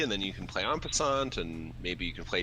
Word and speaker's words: en passant: The first card in the pack is, am I pronouncing this right? En passant? En passant.